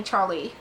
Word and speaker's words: Charlie: one to call me Charlie instead of Charlotte giving it a soft French note Charlie emphasis on both syllables it was rose of